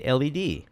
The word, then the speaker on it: LED: say any yes but you say led or Lord lead oh that's a good question well I say led because lead is another thing in the real world that might be why